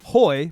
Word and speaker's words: Hoy: is Hoy because H-O-Y, I think it's pronounced the same way in Spanish as today.